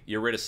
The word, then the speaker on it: Eurydice: Orpheus, okay, so Eurydice. Eurydice is how you pronounce it.